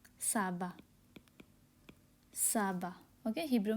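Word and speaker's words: סבא: Okay, grandfather, दादाजी Hebrew में होती है, हिंदी में दादाजी एंड हिब्रू में होती है साबा, साबा।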